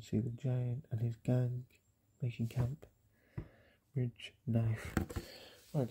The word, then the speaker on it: 刚: So rich plus knife equals barely, and it's pronounced gāng.